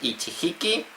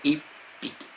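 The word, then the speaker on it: 一匹: No se dice ichiki niiki, no. Se dice i piqui y i piqui. O sea, que se le pone el circulito pequeño y piqui para decir un animal.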